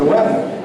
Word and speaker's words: Vetter: Você sabe que a pronúncia Vetter em alemão é Wetter, clima, né? Eu não sou clima, não sou tempestade, eu sou Vetter.